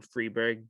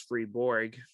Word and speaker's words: Freiburg: it's actually set in Freiburg, Germany. Um, yeah, but in the English dub version, which we watched, the narrator actually mispronounces it as Freeborg, which I kind of Really?